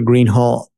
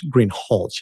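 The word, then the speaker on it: Greenhalgh: you your honor officer Greenhall I believe I'm mispronouncing your name it's green holch isn't it correct okay I apologize will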